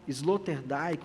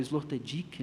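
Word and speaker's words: Sloterdijk: exemplo como butler cavel slotter diik ou slot diik né conforme a pronúncia Hon vattimo agamben além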